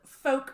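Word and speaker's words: Fouke: because I was like Hey how do you pronounce this why folk what's it spell like f o u k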